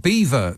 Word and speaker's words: Belvoir: on that theme HCK Belvoir Castle is pronounced Beaver Castle as the local Anglo-Saxons